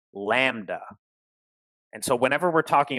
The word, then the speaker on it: lambda: sure it's connected it's fine that symbol is pronounced lambda and like i was just saying before if